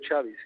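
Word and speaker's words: Xavi: bar bueno per pero esa x aquí en catalán se pronuncia chavi se pronuncia chavi no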